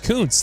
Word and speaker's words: Kuntz: Kuntz, that's correct.